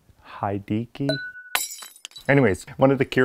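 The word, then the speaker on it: Hideaki: Dickey had a key he pronounced the Japanese name H he de a ki hai D key anyways one of the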